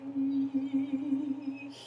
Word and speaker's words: Licht: and then close the CH and the T separately. Ich der Sonne liebes Licht.